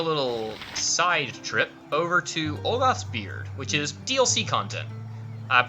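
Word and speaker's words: Ulgoth's Beard: not important, we're going to go deal with Olgoth's Beard. Okay, cool. I'm glad I pronounced it correctly.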